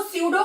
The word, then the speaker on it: pseudo: देखो स्यूडो का मतलब क्या होता है, पी इसमें साइलेंट होता है, ये मैं अलग अलग बता रही हूं, आपने भी अलग से नोट करना।